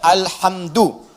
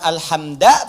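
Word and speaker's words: الحمدُ: Dibacaannya alhamdu, bukan alhamda pakai fathah atau alhamdi pakai kasrah.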